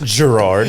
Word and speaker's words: Gerard: It's Gerard. Pronounced with a J.